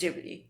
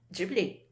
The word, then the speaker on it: Ghibli: The right pronunciation here is Ghibli. Ghibli? Yes. What about in Japan? Ghibli.